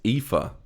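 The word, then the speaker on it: Aoife: so you're going with so the pronunciation of this word is IFA IFA you idiot parents so it's Irish origin that one okay um country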